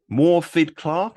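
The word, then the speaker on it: Morfydd Clark: into the actress um morphed clark is how you say her name yeah i think something like that yeah and um she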